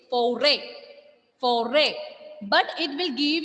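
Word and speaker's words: forêt: Here we are not pronouncing this word as forest. No, it is without S. The pronunciation is foray.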